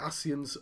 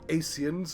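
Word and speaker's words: Ascians: a profound Insight regarding the nature of the asean's immortality it's it's I'm not being funny that's how it's pronounced it's not Asians is that they're called the aseans and they're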